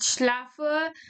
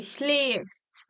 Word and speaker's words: schläfst: Umlaut is these two dots, and it's pronounced as A, kind of A, schläfst, not schlaf.